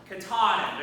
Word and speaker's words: Katahdin: Am I pronouncing that right? It's in Maine. Mount Katahdin. Katahdin.